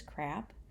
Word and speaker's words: CRAAP: Consider the following criteria when choosing a source, and we have an acronym CRAAP, I guess it's pronounced as crap, to help us remember or to help us qualify what makes a source credible.